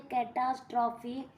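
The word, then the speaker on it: catastrophe: हैं डी हिंदू का पहले है कैटास्ट्रॉफी काटा ट्रॉफी इसको प्रोनाउंस करते हैं कैटास्ट्रॉफी तो यह अभी जो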